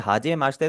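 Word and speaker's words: はじめまして: यहां पर आपने देखा होगा यहां पर जो इसका इ है ई के अंदर मैं इ नहीं पढ़ रहा।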